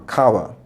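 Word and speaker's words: Chava: language and I said is it evve he said no it's Kaa a Kawa c h a v a and you go to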